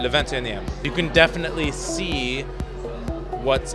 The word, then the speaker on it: Le 21ème: I say Le 21e, Le 21e.